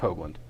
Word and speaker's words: Hoogland: joke doesn't work since your name's actually pronounced hogland but I'm still I'm